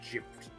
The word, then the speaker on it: GIF: The gift guide. Hold on a damn second here. Gift is how that's pronounced. Graphical interchange format. Graph. GIF. GIF. It is pronounced GIF.